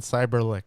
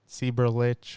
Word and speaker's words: Seiberlich: as well so yes and that's cyberlick not sieberlich or anything like that that's a lesson that's